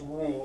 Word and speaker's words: Roux: their daughter roo roux pronounced roux r-o-o um yeah it's a